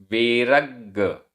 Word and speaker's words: वेरग्ग: वेरग्ग, वेरग्ग आधा ग पूरा ग, वेरग्ग परो, वेरग्ग परो,